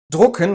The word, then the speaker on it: drucken: Drucken with an U means to print something. Drücken with the umlaut Ü, that means to push or to press.